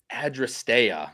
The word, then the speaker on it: Adrasteia: Obviously Proctor Street, Awesome Tech in there at Adrasteia is how you say that horse's name.